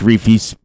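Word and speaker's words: Reefee: this map biogas plant now on riverview it's reefy's biogas this guy right here is how you pronounce his name where'd i see that uh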